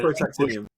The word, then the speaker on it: protactinium: several new isotopes, and they discovered the element protactinium. Protactinium, that's very good. I've got to step in as the chemist in the room. Please do, because I can't pronounce it. Yes. Yeah, protactinium.